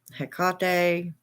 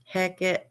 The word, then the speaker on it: Hecate: And Hecate, I mean, her name, a lot of her, there's so many different ways to pronounce her name. Hecate, Heket, Heka. Of course, Heka would be the male pronunciation.